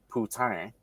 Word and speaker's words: poutine: So, poutine, or allow me to say it correctly, poutine.